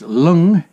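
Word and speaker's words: Luing: This is pronounced, Lewing is pronounced lung.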